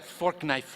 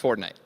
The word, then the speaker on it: Fortnite: That's a fork knife reference. Fork knife? Did you say fork knife? It's actually pronounced Fortnite.